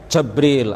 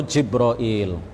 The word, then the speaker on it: Jibril: Bisa juga kita mengatakan Jibril atau Jibril, ya, atau Jibrail. Atau ada juga lughah-lughah yang lain, ya. Bisa juga disebut dengan beberapa pelafalan yang lain, dan itu semuanya benar secara bahasa.